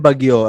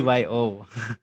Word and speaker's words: BGYO: and BGYO. The new one. BBYO is Yeah, the you call them Bagyo or what? No, you just call them BBYO. BGYO, I You think don't it's call them Bagyo.